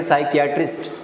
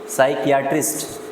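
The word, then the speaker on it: psychiatrist: जैसे इसको आप पढ़ेंगे तो इसकी प्रोनाउंसिएशन अक्सर गलत होगी, तो इसको पढ़ेंगे पीडियाट्रिशियन। क्या पढ़ेंगे इसको, पीडियाट्रिशियन। इसको पढ़ेंगे साइकियाट्रिस्ट, साइकियाट्रिस्ट।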